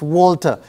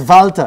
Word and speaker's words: Walter: interviewed i said miss walter which is the english we of course the german pronunciation is valtter exactly good good of